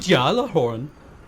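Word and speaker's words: Gjallarhorn: called it gallerhorn ah it's pronounced uh okay you have to say the jaw part like you're german good jala horn there okay i got it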